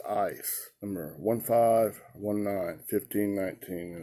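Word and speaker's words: εἰς: It's not against. It's EIS, pronounced ice.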